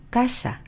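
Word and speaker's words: casa: 지금 말씀드린 이 글자들로 끝날 경우에는 맨 뒤에서 두 번째 모음을 올려서 읽어주시는 거예요. 자, 이해되셨나요? 자, 그러면 아, 에, 이, 오, 우, n, s로 끝나는 어휘를 한번 보면은요. 예를 들어서 우리가 알고 있는 까사, 아로 끝났죠?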